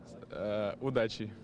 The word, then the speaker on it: Удачи: Удачи.